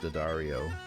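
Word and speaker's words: D'Addario: But it's all D'Angelico and Diodario. Yeah. Like, you go to Italy and they'd be looking at you going like, what? Yeah. You don't pronounce the apostrophe.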